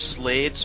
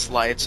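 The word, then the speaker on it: Sleights: slates and slights thing, I don't understand why it could possibly be pronounced slights. Because like sleight of hand, it's like a card trick, Oh, sounds stupid, but and it's spelled the same way.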